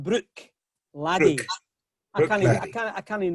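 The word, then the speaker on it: Bruichladdich: They tell you should call it brook laddie.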